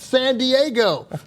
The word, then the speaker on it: San Diego: No, it's pronounced San Diego.